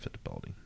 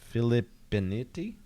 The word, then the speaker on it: Filippinetti: It's not Fittipaldi. It's Filippinetti team out of Switzerland.